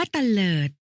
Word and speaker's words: เตลิด: ใช่ แล้ว ค่ะ ซึ่ง คำ ว่า เตลิด อ่าน ว่า เตลิด หมาย ถึง ขอ ให้